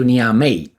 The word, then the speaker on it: Niamey: right says an echo was delegation flew into niamey that's how I pronounce it deal with it on Saturday to